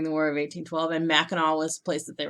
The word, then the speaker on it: Mackinac: they were during the War of 1812 and Mackinaw was the place that they were talking about